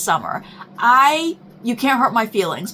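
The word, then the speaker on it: Somer: I break out into hives with these names because I'm Summer, S-O-M-E-R, pronounced Summer.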